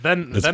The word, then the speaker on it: VEmpire: This is VEmpire, or Vampire, as they spell it out. It's Vampire.